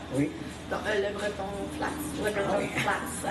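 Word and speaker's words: LeBreton Flats: Le Breton Flats. À Ottawa, je ne sais pas comment le prononcer.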